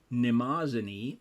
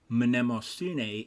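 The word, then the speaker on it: Mnemosyne: goddess of memory pronoun pronounced nimasani in Modern English with the initial M silent but pronounce something like minimo sune in ancient Greek there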